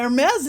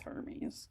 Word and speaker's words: Hermes: It's like, oh, it's, you know, I It's like you just see it written down and it's spelled similarly and you're like, ah, Hermes is coming. They're like, no, that's Hermes.